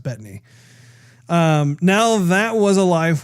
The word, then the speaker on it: Bettany: man excelsior Paul Bette Bethany said that actually I think it's pronounced Bettany now that was a